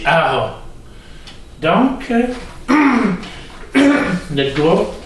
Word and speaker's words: Jara: Ça s'écrit Jara, mais ça se dit Jara.